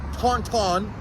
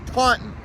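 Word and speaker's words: Taunton: I love it but it's not Tonton Tonton it's Taun so what we're going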